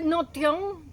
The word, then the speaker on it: Notio: que se encontró en se escribe notion parece una palabra inglesa pero en realidad los griegos se refieren a esta ciudad como notio es una ciudad que